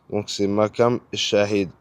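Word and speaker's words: Maqam Echahid: C'est makam comme M a q A M shahid c'est E c h a h I d makam shahid e shahid donc makam shahid le e il est un peu je pense je pense que tu le prononces pas genre ilass on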